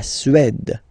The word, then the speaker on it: Suède: La Suède, la Suède, Suède. Remember, accent grave, it's really open.